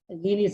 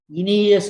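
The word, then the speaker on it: Aeneas: மன்னிக்கவும், ஈனியஸ் என்பது சரியான உச்சரிப்பு அல்ல, அது பழக்க தோஷத்தில் வந்து விட்டது. இனியஸ் என்பதுதான் சரியான உச்சரிப்பு. நெட்டிலே செக் பண்ணி பாருங்க, இனியஸ்.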